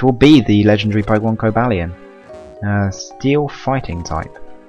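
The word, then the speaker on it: Cobalion: hello i've been searching for the legendary pokemon co valley i'm not i'm not going to call it cobalian even though that's what it's supposed to be pronounced like just sounds weird uh for decades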